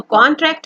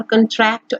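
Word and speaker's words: contract: pronunciation पे ध्यान दीजिएगा कि अगर हम कॉन को लॉन्ग करेंगे कॉन्ट्रैक्ट तो वो नाउन हो जाएगा, लेकिन जब हम कंट्रैक्ट बोलेंगे तो वो ये श्रिंक वाला हो जाएगा, कि वो अपनी बॉडी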